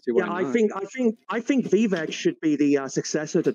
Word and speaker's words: Vivek: Vivek. Vivek. Listen. Did I pronounce it wrong?